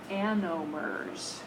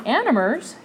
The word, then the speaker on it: anomers: calling them diastereomeric hayworth forms they call them anomers animers and it is spelled a n o m e r s